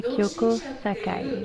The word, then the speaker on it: Kyoko Sakai: Bonjour mesdames et messieurs, je suis donc la superviseure de Ikaja, je m'appelle Kyoko Sakai.